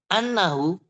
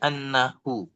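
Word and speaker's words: أنه: annahu, ini harus dibaca sebagai anna, terlihat sangat jelas, annahu, bacaannya, ya.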